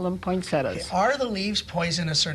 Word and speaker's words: poinsettia: pronunciation is it a poinsettia or a poinsettia or take your choice all good like tomorrow exactly there is is an eye there is an i in the word poinsettia would be the proper